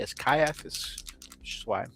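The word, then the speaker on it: Ciaphas: I've heard people say Sciaphis Kaiapiscane. Um, but in the uh audio books, they say it with a hard C as Kaiis, which is why I'm pronouncing it that way.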